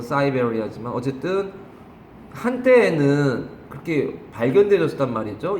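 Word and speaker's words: Siberia: 저 열대지방에도 살고 저 그 뭐야 시베리아도 살고 영어식 발음은 사이베리아지만 어쨌든 한때에는 그렇게 발견되었단 말이죠.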